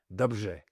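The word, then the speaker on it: dobře: So in Czech, for example, the R-E is pronounced rj, dobrze, for well, where the same word in Polish is pronounced dobrze.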